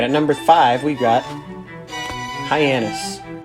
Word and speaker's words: Hyannis: number five we've got hyannis this one looks like it's pretty easy but you'd be surprised how many people say hyenas or giannios or something stupid like that alrighty at number four